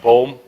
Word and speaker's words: Boom: lot of questions uh it's actually a Dutch name it's uh means tree